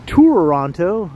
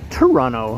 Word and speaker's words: Toronto: There's Touronto, as in like you're taking a tour. And then there's Toronto, who we have in the chat right now. Which is sort of how you pronounce Toronto, right? If you're a local.